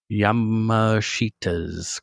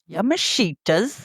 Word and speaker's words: Yamashita: In 2008, Colin became embroiled in a bizarre and ultimately disastrous scheme invol involving Yamashittita's gold. Yamashitas. I I I totally butchered that one.